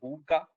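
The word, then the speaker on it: hygge: uh you know in danish it's called it's pronounced as hookah okay so it's it's basically uh you know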